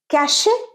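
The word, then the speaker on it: cache: ফ্রমজমা suffering ফ্রমজমা পরেরটা ক্যাশে ক্যাশে ভুল ক্যাশ ক্যাশ আমাদের সিস্টেমে মোবাইলে বল ট্যাবলেটে বল অথবা কম্পিউটারে যে আবর্জনাগুলো জমে ডেটা আবর্জনা তাকে আমরা বলব ক্যাশে না ক্যাশ তোমার ডেটা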